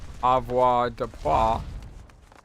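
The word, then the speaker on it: avoirdupois: I know it's pronounced Avoir de Poix.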